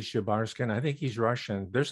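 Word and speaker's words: Шебаршин: So Leonid Shebarshin. How would you pronounce that? Just as you did, Shebarskin.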